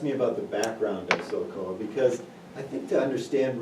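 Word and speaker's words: SOLKOA: military, he actually worked as a contractor for doing those types of things in survival, and eventually created SOCOA. And just for your listeners' benefit, SOCOA is spelled S-O-L-K-O-A.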